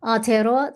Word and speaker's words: Aotearoa: So, Aotearoa, the land of the long white cloud, is New Zealand. And that is how it's said. The name is said in Te Reo.